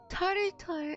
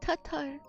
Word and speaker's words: Tatar: And I pronounced it tartar and not Tatar. Got it wrong.